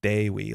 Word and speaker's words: Dewi: It's pronounced Dewey like Dewey from the DuckTales. That's the issue, is that we think it is. And now that's stuck in our head. I was thinking Dewey from Malcolm in the Middle. But it should be more like Dewi, like rhyming with they.